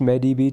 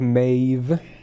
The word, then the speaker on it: Medb: Not pronounced medb. True. True. It's like Mave.